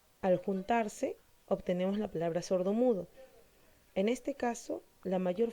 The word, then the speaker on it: sordomudo: Cuando vemos las palabras compuestas, vemos que al juntarse obtenemos la palabra sordomudo.